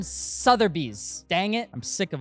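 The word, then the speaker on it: Sotheby's: It's RM Sutherbees.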